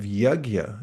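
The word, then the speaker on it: yajña: introduces this idea of yagya. That's spelled y a j n with a little squiggle over it and an a. Yagya.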